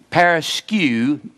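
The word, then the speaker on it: παρασκευή: Now that looks paraskeue. That's where it's just paraskeue. That EU is pronounced U, and this last E is pronounced A.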